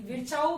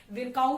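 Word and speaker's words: Virchow: विर्चाउ कहते हैं, कुछ लोगों का प्रोनाउंसिएशन विरकाउ भी कहते हैं, जैसा भी आपको ठीक लगे, विर्चाउ।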